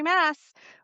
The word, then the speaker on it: Maas: her and I said, "Okay, Sarah J. Moss." She'd be like, "That's me, Sarah J. Mass." Like, she would just say the correct pronunciation like in her next sentence.